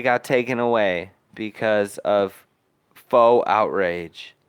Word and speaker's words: faux: taken away because of faux outrage which is actually spelled like with a u and an x if you could believe it um yeah i i've